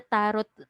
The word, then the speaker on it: tarot: Even the tarot readers, the tarot card readers. Taro. Yeah, that is it tarot? Tarot kasi I was It's taro. The T at the end is silent.